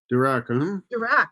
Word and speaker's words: Dirac: Dirac, yes, I spelled that. I pronounced that right.